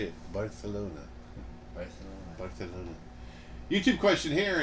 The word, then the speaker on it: Barcelona: Barcelona.